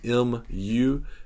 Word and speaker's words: mu: common ones this is called mu of x that's spelled m u mu of x uh some some calculus textbooks